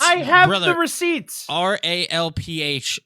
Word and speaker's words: Ralph: up by pronouncing it Rafe. Like if his name was spelled R A F E, like that's fine. It's Rafe, but it's I have the receipts. R A L P H is pronounced Ralph.